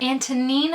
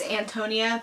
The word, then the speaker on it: Antonina: I see now her name is Antonina. Antonina. I thought it was Antonia the whole time, literally the whole book.